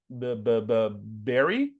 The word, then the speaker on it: berry: This one, you're like pressing your lips, berry.